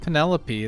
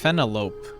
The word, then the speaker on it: Penelope: It's not Penelope, it's Penelope. It's a gem.